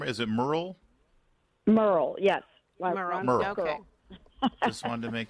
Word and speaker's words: Murrill: I just want to be C are we pronouncing your name is it Merl Merl yes just wanted to make sure because you're